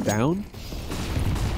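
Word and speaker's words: Stavn: I think I actually heard that Stavin's name is pronounced Stown.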